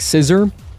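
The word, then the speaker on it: SISR: It's called like like Sizer. And this program I it's it's spelled s i s r.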